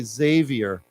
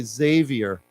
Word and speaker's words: Xavier: common I've seen it it's pronounced with a z so we say Xavier so we say Xavier yeah Xavier yeah yeah Xavier yeah